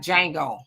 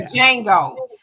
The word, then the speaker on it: Django: No, the J is silent. Oh, like Django. Yeah, kind of like that. The Django.